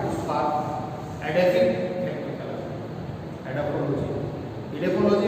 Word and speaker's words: edaphology: इडेफोलॉजी वो कहते हैं ई से है, ई का उच्चारण इडेफोलॉजी में होता है, एडेफोलॉजी एडेफिक।